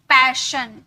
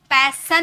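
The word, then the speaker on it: passion: तो अगर IAION हो तो एस को श में प्रोनाउंस करते हैं, किसमें, श में, श, सलगम, श, ओके। पैशन, पैसन नहीं, सन नहीं, पैसन नहीं, पैशन। टेंशन, श, टेंशन, ओके।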